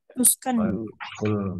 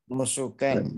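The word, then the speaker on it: نُسُكًا: Mana ada kata nuskan? Kalau sholat Apa, kita Ustaz? baca inna sholati, bukan wa nuski, bukan seperti itu. Tapi bacanya apa? Wa Nusukan. nusuki. Jadi bacanya nusukan.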